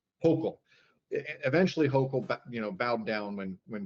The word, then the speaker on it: Hochul: And then eventually it's Herschel, right? Or how do you pronounce her name? Hochul. Hochul.